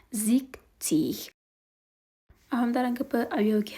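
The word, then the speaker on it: sechzig: نو په شپېتو کې هغه نه راځي. په شپېتو ته موږ وایو چې زیکتیغ.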